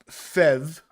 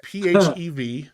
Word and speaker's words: PHEV: So that's not pronounced FEV. That is just PHEV.